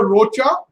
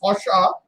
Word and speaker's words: Rocha: It's written Antonio Rocha, pronounced Rocha, but Rocha is how you write it.